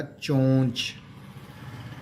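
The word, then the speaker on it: چونچ: चोंच यानी अब अगर इसके हम जोड़ करें तो चेवा चो नून चे नच चोनच, तो इसको इस तरह से नहीं पढ़ा जाएगा, ये साइलेंट हो जाएगा नून।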